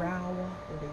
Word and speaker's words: Rowley: Rowley.